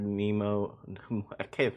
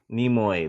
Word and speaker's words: Nimoy: was really good but lean mark the Leonarda nemo can't say his name Spock the guy who plays Leonard Nimoy Nemo Nimoy there we go there's something really weird about